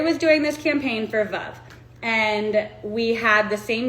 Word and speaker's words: Veuve: But I think you say Veuve. I think you're Oh. supposed to say Veuve like love.